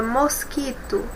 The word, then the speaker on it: mosquito: Vamos pronunciar de novo a palavra mosquito. Mosquito. Observem que esse U nós não ouvimos o som dele, tá bom? Porque junto com o Q aqui eles formam um som apenas.